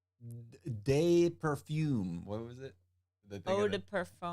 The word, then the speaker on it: eau de parfum: Eau de parfum. Eau de parfum.